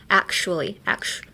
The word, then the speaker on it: actually: A lot of people say actually, but uh change the t into a sh hu. Actu actual, right? Actuary. So actual actually actually.